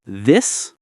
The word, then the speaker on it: this: The most difficult pair is this versus these. This, for one thing, is very short and quick. The I sounds like the I in it.